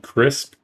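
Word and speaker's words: Krisp: It's called Crisp. Uh, spelled with a K. K R I S P.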